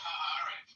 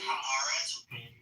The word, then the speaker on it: Haaretz: It's pronounced Haaretz, by the way. It's two separate. Haaretz.